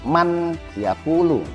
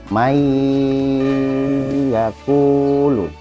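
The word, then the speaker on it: من يقول: Jadi bacanya tidak man yaqulu, tetapi dimasukkan ke huruf iya-nya. May yaqulu.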